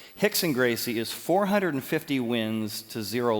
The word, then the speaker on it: Rickson Gracie: is pronounced horse Gracie but um Rickson Gracie pronounced Hicks and Gracie Hicks and Gracie is 450 wins to zero losses over his